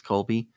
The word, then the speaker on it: Kolbe: So to wrap up for the audience, Colby was mentioned, and that is spelled, in case anyone ever wanted to go look it up, it's Kolbe. It's Colby.